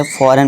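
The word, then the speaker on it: foreign: जी silent कब होगा, यदि जी के बाद एन हो तो जी साइलेंट होता है। अब चलिए एग्जांपल से समझते हैं। एग्जांपल देखिए, जी के बाद एन है तो इसे क्या पढ़ेंगे, फॉरेन। अब इसे फॉरेन नहीं पढ़ेंगे, इसे फॉरेन पढ़ेंगे।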